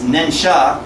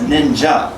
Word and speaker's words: ninja: a person of stealth that we pronounce ninsha as ninja what you see musha